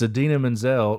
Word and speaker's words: Idina Menzel: a great joke of its idina menzel pronounced exactly how you spell it kind of making